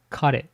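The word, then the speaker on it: 彼: Before the 1800s, there was a word pronounced kare.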